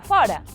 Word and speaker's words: fora: E logo está fora. O contrario de dentro é con o aberto. Fora. Pero fora do verbo ser ou do verbo ir é con o pechado. Antón fora ao estadio, pero quedou fora.